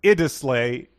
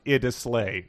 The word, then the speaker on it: Iddesleigh: only has one l not two so it's pronounced idislay it is lee not ida slay i mean it'll slay which we had both been saying i think